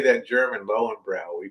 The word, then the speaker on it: Löwenbräu: It's a Löwenbräu. How do you say that in German? Lowenbrow, we call it.